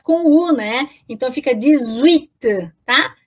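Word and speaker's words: dix-huit: aí Vera Visit with se escreve com h tá pessoal então h u i t para falar oito né então eu falo desuit tá com 10 e 8 ali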